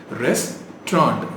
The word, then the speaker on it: restaurant: ரெஸ்டாரண்ட் அப்படின்னு சொல்லிட்டு இருக்கோம், which is wrong. 2 syllable. ரெஸ்டாரண்ட், ரெஸ்டாரண்ட். நல்லா இருக்குல்ல கேட்க? ரெஸ்டாரண்ட்.